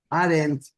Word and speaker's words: Arendt: apellido Arendt se escribe, Hannah escribe H-A-N-N-A-H, o sea, doble H, y el apellido es a ver, déjame escribirlo para que no me vaya a regar. Arendt, A-R-E-N-D-T.